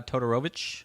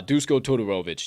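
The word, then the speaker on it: Duško Todorović: a stiff opponent who's he got uh uh totorowicz oh um uh disco totoro uh uh just yeah i gotta look at it to be able to pronounce it right but yeah i just go to tutorovix or whatever but the whole point is maki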